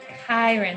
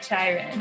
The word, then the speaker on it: Chiron: Oh, by the way, I forgot to tell you, you pronounce Chiron. Chiron, not Chiron.